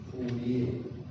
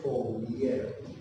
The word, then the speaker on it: Fourier: Entonces, lo que pretende, o sea, lo que pretendemos escribir acá es esa ley de Fourier. Creo que se pronuncia así, se escribe Fourier.